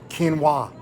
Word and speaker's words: quinoa: flax or Chia and how exactly do you pronounce that one quinoa quinoa it's actually quinoa these products are part